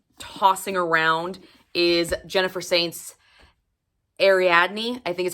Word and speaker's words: Ariadne: The next book that I'm tossing around is Jennifer Saint's Ariadne.